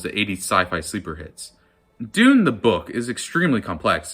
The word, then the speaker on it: Dune: My favorite film of 2021 rhymes with tune. Doon, doon, doon, doon. Warner Brothers did good with the remake of Dune.